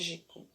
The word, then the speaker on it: mágico: a antepenúltima então aqui eu tenho a palavra mágico mas mágico então o mar é a sílaba mais forte ok pessoal para vocês